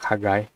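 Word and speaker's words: חגי: Ini huruf ket, bukan huruf he. Jadi bacanya itu ada huruf H, di sini mungkin ada huruf K gitu, seperti itu. Hagai. Ini ada dagesh menunjukkan doubling. Di sini ada patah yod, berarti bacanya itu Hagai.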